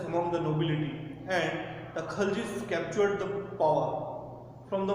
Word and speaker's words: Khalji: Then students, we will move to the next Sultanate, that is the Khaljis. Students, it is also known as the Khilji. Sometimes some people pronounce it as Khilji.